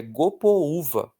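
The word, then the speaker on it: Gopoúva: Gopva, mas o nome do bairro é Gopouva, com força no U. Então tem que ter acento porque senão a gente lê errado, tá?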